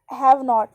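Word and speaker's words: haven't: हैव नॉट तो बनेगा हैवन, इसको जब स्पीकिंग करते हैं ना तो वैसे बोलते हैं, ठीक है, हैवन, ओके। टी साइलेंट रहता है, हैवंट नॉट, ओके।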